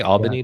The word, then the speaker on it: Albany: Do you say Albany, Jim? Albany. In Georgia, there's a Albany, Georgia, Doherty County. That's how they say it.